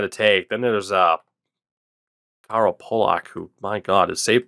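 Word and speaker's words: Polák: Then there's Carl Pulak, who, my God, his save percentage sucked, but damn. All right. I guess it'd be Pulak, as in Roman Pulak. I always heard people pronounce it Roman Pulak, though, too.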